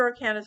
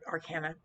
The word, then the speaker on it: Arcana: goes through the major arcanas and the minor arcanas I pronounce it Arcana not ARCA um and uh you know